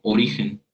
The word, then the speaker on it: origen: Sin embargo, por ejemplo, en la palabra origen, la sílaba ri es donde cae la mayor intensidad acústica de la palabra.